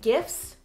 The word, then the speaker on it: gif: Después necesitan familiarizarse con los gifs o gifs, como lo quieran pronunciar. De todos modos este video no es sobre como pronunciarlo. Por cierto se dice gif.